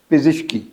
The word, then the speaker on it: پزشکی: یاد رکھنا ہے، پزش۔ پے کے نیچے زیر ہے، زے کے نیچے زیر ہے، پزشکی یعنی ڈاکٹری.